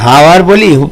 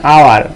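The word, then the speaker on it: hour: অ্যান আওয়ার, এইচ এর উচ্চারণ, এইচ এর কোনো উচ্চারণ তোমরা এখানে কি পাচ্ছ না, সেই জন্য অ্যান আওয়ার হয়েছে, ঠিক আছে? আমরা কি অ্যান হাওয়ার বলি না, আমরা বলছি অ্যান আওয়ার, মানে আওয়ার অর্থাৎ আ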